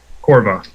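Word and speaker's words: Korva: Corva.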